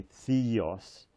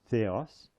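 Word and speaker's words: θεός: in an English way Theos pronounce it more in a Greek way which is similar actually to Italian a a e o a so this is AOS AOS Theos the God now we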